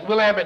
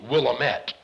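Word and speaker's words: Willamette: yeah I it's you're yeah you're pry that's will Amit is the right pronunciation is it looks like it ought to be willamet but we'll am at College in Salem and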